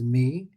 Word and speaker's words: mu: So we could use the Greek letter mu, which is like a U, but actually pronounced in Greece as me to make it even more confusing.